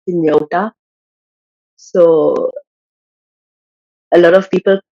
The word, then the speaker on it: Hynniewta: it's like a thing my surname which is inyota so a lot of